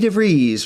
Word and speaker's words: DeVries: you also to vicky devries rhymes with cheese matt horn dustin jabloski